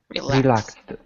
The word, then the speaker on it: relaxed: So this one is like a T sound. Relaxed.